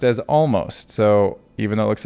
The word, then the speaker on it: Omost: It's supposed to be pronounced as almost. So even though it looks like almost, I'm going to call it almost.